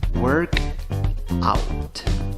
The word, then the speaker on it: workout: La primera palabra, work, la pronuncias no con O, sino con schwa, la que no suena ni A, ni E, ni O. En la segunda palabra, aunque tienes una O, en la pronunciación tienes una A.